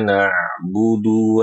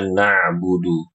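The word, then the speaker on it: نعبد: Nah, kemudian Ibu-ibu rahimakumullah perhatikan juga ketika membaca na'budu iyaka na'budu. Huruf ain ini harus ibu perhatikan. Jangan huruf ainnya dia dijadikan seperti hamzah atau memang dimurni diubah murni menjadi hamzah.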